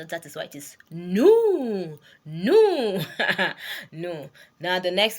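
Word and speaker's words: nous: new means we right new is n o u s the S is not pronounced that is why it is new no no now the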